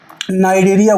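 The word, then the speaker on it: Cnidaria: नाम भी बताना चाहूंगा जिसको हम लोग नाइरिया बोलते हैं वो भी सी से स्टार्ट होता है क्योंकि सी जो है वहां पर साइलेंट है और इन दोनों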